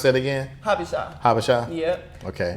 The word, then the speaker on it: Habesha: And how you pronounce that again? Habesha.